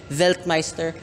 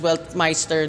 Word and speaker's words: Weltmeister: here is the 2023 veltmeister W5 or if you're Pinoy you can just pronounce it as well Meister W5 or in short wmw